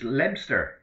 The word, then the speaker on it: Leominster: I'm probably 13 miles north of Hereford in a town called Leominster, pronounced Lebster.